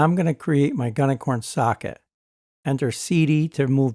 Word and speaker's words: gunicorn: create our gunicorn socket or gunicorn as many people like to pronounce it since it's actually green unicorn I prefer gunicorn in reality I do